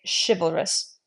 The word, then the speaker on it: chivalrous: chalous we would say chivalrous shiv if you're saying chivalry so this would have more of that sh sound than a CH likewise here H we